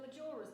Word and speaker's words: Majora: I'm going to pronounce this wrong. Is it Zelda Majora's Mask or That's Majora's exactly Mask?